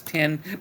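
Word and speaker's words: OS X: Ah, released for the iOS and OS 10. By the way, that X is pronounced 10 operating systems.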